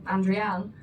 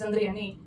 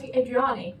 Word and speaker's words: Andreani: I changed my name when I moved to the UK and I'm Andreanne even though my name is Andreani. People can't say it. They see it written as Adriani.